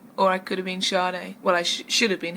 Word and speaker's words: Sade: so I'm sure they English English pronunciation is Sharda Sharda you said that you